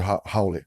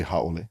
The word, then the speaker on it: haole: You go to the word haole. Mm-hmm. It exists in chants, and then the chants are passed on for generation after generation, mm-hmm. and the pronunciation is passed on in the chant. Mm-hmm. And then that's one source. Mm-hmm. And then you have native speakers recorded, and none of them say haole.